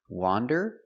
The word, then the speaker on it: wander: wonder very good so remember the pronunciation difference wander with the open Sound a w wander and wonder the clo sound uh uh uh W Wonder this is not correct